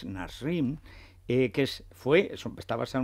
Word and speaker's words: Nasrin: imagenio que se llama nasrin aunque él lo pronuncia narrin pero escrito es nasrin que es fue está